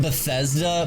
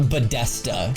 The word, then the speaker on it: Bethesda: Dude, he pronounced Bethesda Bedesta.